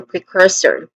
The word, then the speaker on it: precursor: Pronunciation wise we have three disting sounds starting with pre short e vowel sound then c and son again and not son but sir again sir so precursor again precursor and lastly